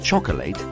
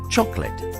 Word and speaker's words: chocolate: with no lighted syllable that means we don't pronounce it rather than chocolate we say chocolate vegetable is another one we don't say vegetable